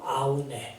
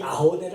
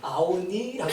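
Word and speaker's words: Aune: 그래서 나도 이제 비일 교수를 인용하면서 데이비드 아우네라고 했는데 여기 계신 편집부 직원이 이 아우네를 알지 못하고 우리나라 표준법에 의하여 표기하는 것 소리 해갖고 아우니라고 생각해요. 원래 발음을 아우네라고 발음해야 된답니다.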